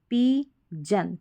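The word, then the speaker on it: pigeon: तो यहाँ पर भी देखें, रिली, जस, रिली, जन, पी, जन। तो GIOUS को जस पढ़ेंगे, GION को जन पढ़ेंगे, यहाँ पर भी जन, रिलीजस, रिलीजन, पिजन। तो इस तरीके से पिजन, पिजन करके इसका उच्चारण करेंगे।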